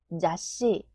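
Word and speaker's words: ざっし: 읽으면 가으 카 가까 잡지는 자으 시 자시 자시 절대는 제을 타이 제따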